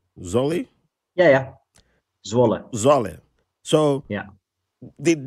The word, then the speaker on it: Zwolle: Zwolle?